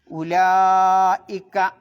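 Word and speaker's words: أولئك: ഉലായിക്ക അവിടെ ഉവുലായിക്ക എന്ന് എഴുതിയിട്ടുണ്ടാവും, ആ വാവിന് എന്തുണ്ടാവില്ല? ഉച്ചാരണം ഉണ്ടാവില്ല. ഉലായിക്ക 4 മുതൽ 6 ഖദർ വരെ നിർബന്ധമായി നീട്ടണം. അപ്പോൾ ഓതേണ്ടത് ഉലായിക്ക. പിന്നെ ഹുമുല്ലാലിമൂൻ അവിടെ ഹുമു കഴിഞ്ഞിട്ട് അലിഫിന് ഉച്ചാരണമല്ല, ലാമിന് ഉച്ചാരണമല്ല, ല എന്നതിലേക്ക് ചാടാം.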